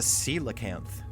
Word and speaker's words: coelacanth: Why don't we tell the audience about the coelacanth? Perfect pronunciation.